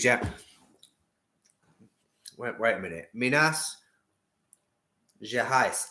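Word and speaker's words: Minas Gerais: wait wait a minute minas je heist it isn't it the h is the r and the g is j anyway yes um bella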